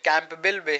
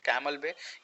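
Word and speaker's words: Campbell Bay: वैसे ही अंडमान एंड निकोबार में देखें आप, कैमल बे जिसको बोलते हैं, कैंपबेल बे है but generally we pronounce it कैमल बे।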